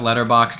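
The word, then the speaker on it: Letterboxd: My letter boxed is letter boxed. Is that annoying? Is that annoying that I say that? Letter boxed. That's how you say it. That's That's I've only ever heard people say letter box. It has a D.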